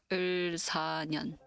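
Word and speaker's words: 을사년: So this is pronounced Ilsanyeon in Korean.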